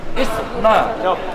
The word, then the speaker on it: Istna: Jadi bacanya gimana? Nah. ISNA.